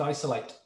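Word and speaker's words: ISOL8: That's I-S-O-L-8, pronounced Isolate.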